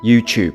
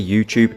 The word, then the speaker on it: YouTube: In England, we pronounce the combination of letters TU as if it's a CHU. So for example, you have tuna, tube, tuning, YouTube.